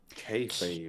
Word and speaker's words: kayfabe: K A Y F A B E. Kfabe.